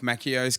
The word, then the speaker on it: Macchio: Two C's together in the Italian pronunciation is like a K.